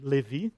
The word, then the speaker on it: Levi: I created the Levi in Portuguese we say Levi okay the pronunciation it's a machine learn